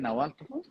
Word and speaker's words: Nahuatl: Nahuatl?